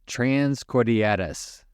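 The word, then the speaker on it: Transcordilleras: it a go so the race that Dan did in Colombia is actually pronounced trans cordatus all right I think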